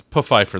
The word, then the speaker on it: Pfeiffer: Oh, no, it's Pfeiffer. The P is not silent.